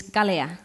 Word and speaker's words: galia: And an easier way to say bye for now is galia. Galia. And that's a fun one in my classroom, because at the end the kids love saying galia Miss Dalia. Because it rhymes with my name.